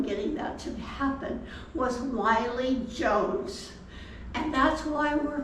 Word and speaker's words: Willie: was named after him if you see his name in print it looks like his name is Willie but he pronounced it Wy so we say well